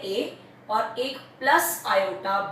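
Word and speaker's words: iota: इसी को हम √-1 को ही हम बोलते हैं आयोटा। इसको मैं क्या बोलते हैं, हम ब्रैकेट में लिखती हूँ मैं आयोटा, लिखते हैं स्मॉल आई, ठीक है, और इसको प्रोनाउंस कैसे करते हैं, आयोटा, ठीक है।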